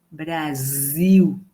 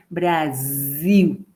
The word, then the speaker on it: Brasil: el nombre del país tengo una s entre dos vocales una s simple y ahí va a ser Brasil no es Brasil sino que es Brasil y ya vamos a